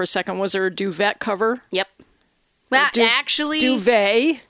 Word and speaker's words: duvet: I don't think matter I bet British people say duvet they like I feel like they intentionally mispronounce French words just to mess with the French yeah I'm sure I have a feeling yeah uh but it is duvet you know inde deference to our French Canadian neighbors although maybe they